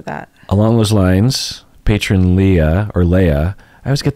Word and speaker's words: Leah: Along those lines, patron Leah or Leia, I always get that wrong. I know. L-E-A-H. Leia? Leah. That's Leah.